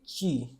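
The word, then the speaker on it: ち: Here we have another exception. It is not T. It is not there. It is actually chi.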